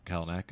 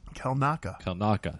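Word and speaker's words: Kelnacca: So we actually get to see Master Kalnakis. Is that how you say his name? Kalnaka.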